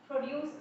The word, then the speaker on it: produce: For example, if we take nouns and adjectives, the stress is always on the first syllable. Whereas, if the same word is used as verb, the stress is on the second syllable.